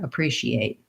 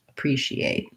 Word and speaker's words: appreciate: the number eight and i don't typically release that tea so i'm not necessarily necessarily saying appreciate although i can but americans will often use a stop t there appreciate appreciate i'm so short long